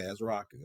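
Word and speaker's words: Ezeiruaku: Ezeraku, yeah, it is. Ezeraku, yeah. Okay, Ezeraku, okay.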